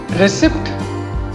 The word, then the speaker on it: receipt: Receipt. गलत. The current pronunciation is receipt.